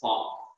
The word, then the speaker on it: Planck: You can't say Planck, it's Planck.